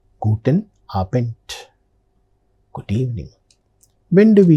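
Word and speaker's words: Guten Abend: Ending letter D that is pronounced with the sound guten aent.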